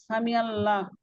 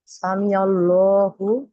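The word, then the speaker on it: سمع الله: যে তার প্রশংসা করেছে শুনেছেন আল্লাহ আল্লাহ সামি আল্লাহ আল্লাহ শুনেছেন লিমান তাকে যে হামিদা হামিদাহু তার প্রশংসা করেছেন।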